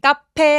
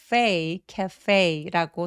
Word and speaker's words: cafe: 카페 아니고 cafe라고 소리 내주시면 됩니다.